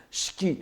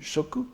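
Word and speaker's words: 色: le terme Shiki, alors cette fois évidemment il est prononcé à la bouddhique Shiki et non plus Shoku, parce que nous sommes en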